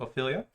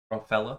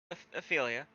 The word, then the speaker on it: Ophelia: We can move on to Ophelia. Ophella, sorry. Ophelia. Oh, okay, my bad. No worries. Got it right the first time, butchered it the second time.